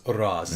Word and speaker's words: Ra's al Ghul: Ghul but I'm aware the way they've played it in the arrowverse how if you're from there two rods are it's rich but the Americanized way of saying it was Arras and Oliver would come